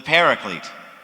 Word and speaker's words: Paraclete: was called the parakletos which we commonly pronounce today as the paraclete all of these words